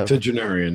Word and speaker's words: octogenarian: Octogenarian, yes. It's Octogenarian.